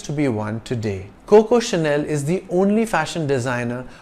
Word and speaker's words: Chanel: English word channel it's c-h-a-n-e-l with a single n and it's pronounced Chanel because CH is pronounced like sh in French Chanel is a French